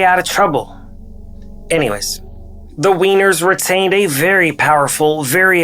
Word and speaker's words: Wiener: How do you pronounce it? Wiener.